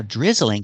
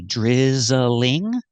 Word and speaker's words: drizzling: Now, drizzling has 2 pronunciations. I can say drizzling, 3 syllables, drizzling, or I can say 2, and I can say drizzling, drizzling, drizzling. So 2 pronunciations, drizzling or drizzling.